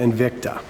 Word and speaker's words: Invicta: correct you d but it's uh invicta and victor invicta i had too many syllables that's all right so